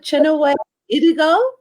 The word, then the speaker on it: Chinwe Idigo: today my very special gift will be dr chenoweth idigo did i pronounce it correctly doctor you did you did um thank you for having me i'm happy to be here you're welcome doctor and dr chinaway has a forum for a black it's a